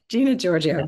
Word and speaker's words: Gina Giorgio: Is that the right pronunciation? Giorgio? Gina Giorgio. Gina Giorgio, great.